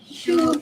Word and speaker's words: choux: pronunciation is Choux pastry.